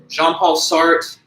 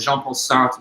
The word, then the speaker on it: Jean-Paul Sartre: Jean-Paul Sartre, it's a French name, so it's got those soft French R's that are kind of hard for the English tongue to pronounce. I even struggle with it, and I took French in high school for a couple of years. Jean-Paul Sartre, something like that, Sartre, like this guttural kind of very soft R.